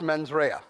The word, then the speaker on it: mens rea: Now, I'm not very good at Latin, but I believe it's pronounced mens rea, which means malicious intent.